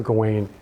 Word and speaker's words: Gawain: the Fantastic medieval poem sir gawaine or sir Gowen depending I pronounce it sir going and the Green Knight